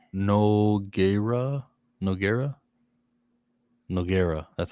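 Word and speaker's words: Nogueira: pronounced Noggera.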